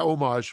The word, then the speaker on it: homage: this paid homage to yeah homage we're going to say it that way no with the silent h that's what we're gonna